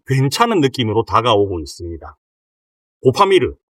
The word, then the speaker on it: 고파미르: 고파미르 이렇게 우리가 보통 발음을 하잖아요. 근데 이거를 띄어서 읽으면 고파미르예요.